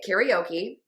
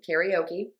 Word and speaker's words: karaoke: Karaoke. That's the American pronunciation. Karaoke.